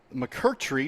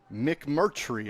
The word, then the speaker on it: McMurtry: I get this right Mark mccourtry number five McMurtry I apologize and it's spelled different